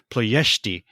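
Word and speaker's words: Ploiești: And on that comment, he says it is Ploesti. Ploesti, yes. Yes, accent on the second syllable and an SH.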